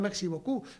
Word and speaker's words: merci beaucoup: Merci, con C, no merci, y beaucou, terminado en P, y lo que pronuncia merci beaucoup.